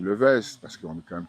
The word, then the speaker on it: Le West: j'ai toujours pour habitude de dire que le W, il n'y a pas vraiment de règle de la façon de le prononcer. Ok, Donc j'ai toujours laissé les gens le dire comme ils le voulaient. Mais endémiquement, en Guyane, on a toujours dit le Vest, parce qu'on est quand même très franco-français, voilà.